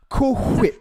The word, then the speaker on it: Cool Whip: That you just ruined cool whip. You just ruined food product. Cool whip. Food product. And it's it's pronounced cool whip. You got to put emphasis on the H.